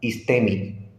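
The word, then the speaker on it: ἵστημι: aquí lo estamos resaltando esto se pronuncia más o menos este este sai y este sai fíjese como Cuál es la raíz de la palabra istemi Y cómo traduce hacer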